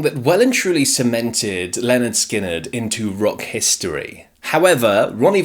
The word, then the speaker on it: Lynyrd Skynyrd: And yes, it's Leonard Skinnard, by the way, not Leonard Skinnard. And we know that because of their debut album, pronounced Leonard Skinnard.